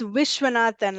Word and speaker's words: Viswanathan: It's Vishwanathan, like making a wish.